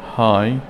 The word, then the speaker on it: high: voice صوت high عاليا gh لتلفظ.